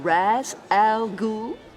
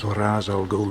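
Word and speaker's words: Ra's al Ghul: Am I pronouncing this right, Mr. Raz Al Ghoul? Not only did she mispronounce the name, she failed to use this movie's designated misprononunciation. Truly stunning.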